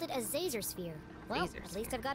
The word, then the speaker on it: Zazer: doing it on purpose it's professor zazer like laser with a z how hard is that